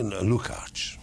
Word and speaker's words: Lukacs: Why do I pronounce it Lucas? Because it's great to my ear, because they cannot pronounce it the way it's pronounced in Hungary. It's probably Lukacs.